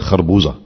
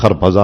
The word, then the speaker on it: خربوزہ: اور اس کے بعد خرپزے آئے جس کو ہم اردو میں کہتے ہیں خربوزہ. ہے نا، فارسی میں اس کا تلفظ خرپزا اور ترپزا، وہ آئے تو انہوں